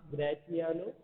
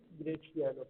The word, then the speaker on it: Graciano: Graciano is also called as Gratiano, but correct pronunciation is Graciano. Please remember that.